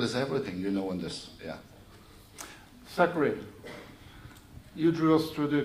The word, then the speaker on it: Zachary: Zachary, you drew us through the case with Google.